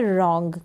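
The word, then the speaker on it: wrong: कलाई फिर यह है रंग क्या है और रोंग रोंग का मतलब होता है गलत क्या है गलत और यहां पर यह जो डब्लू है डब्लू काम नहीं करें और स्पेलिंग स्टार्ट है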